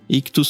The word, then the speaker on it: Ichthus: Ictus se escreve ICHTHUS.